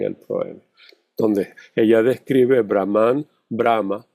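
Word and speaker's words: Brahmā: Vean el acento en la este acento es muy importante porque si tiene el acento en la primera parte es el Dios neutro o la deidad neutra o o el logos neutro.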